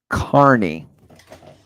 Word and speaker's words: Karen Carney: I've got like Tierney, Kearney, I think, and I don't want to say it wrong. Carney.